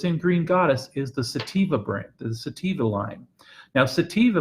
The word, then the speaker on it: sativa: and the other ones call seppia sateen vodka sativa thank you I say it wrong every time